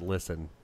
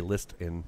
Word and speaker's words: listen: Listen. Well, that could be the T. I guess that's what they're calling it, is the T. Yeah. It's listen. Yeah. You don't say list in.